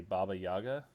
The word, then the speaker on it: Baba Yaga: 29th and then the I want to say Baba Yaga is how you say yeah that's correct yeah uh the Temple